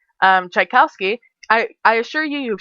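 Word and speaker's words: Tchaikovsky: things I one of my favorite songs by chaikowsky chowski is spelled t c h a i k o v s k y um chikowski I I assure you you've seen the name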